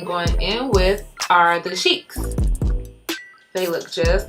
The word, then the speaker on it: Chic: These are in the style Chic, and that's spelled C-H-I-C. Not chic, it's chic, okay?